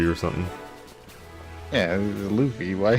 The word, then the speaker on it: Luffy: Yeah, it was Luffy. Why you said Oh. Luffy? It's Luffy. I think of like Fluffy, where it's the sounds are gonna be the same.